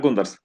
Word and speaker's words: Gundars: This is Gundars, if I pronounced his name correctly. Yes, Gundars. Everything is correct, everything is correct.